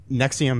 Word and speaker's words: NXIVM: The Nexium is NXIVM is how it's spelled.